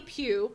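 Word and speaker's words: Pugh: one show heck yeah and that's bonnie bonnie pew p ugh p ugh and if the H is silent she'd be a pug dog bonnie bonnie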